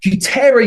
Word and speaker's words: Futera: I've been saying Futera. Yeah, Futera United is how I pronounce it. It's made up of the words future and era.